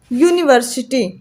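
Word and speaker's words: university: ऐसे लिखेंगे यूनिवर्सिटी ठीक यहां पर जो हमारा साउंड है पहला साउंड कैसा है या बन रहा है मतलब यह का के बीच में आता है का से गया के बीच में मतलब ये कंसोनेंट साउंड है तो ये हमारा क्या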